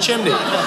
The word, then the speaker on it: chimney: And my wife finally corrected me at about age 44, made me look it up, and there was no L in the word chimney. So I now can say it correctly.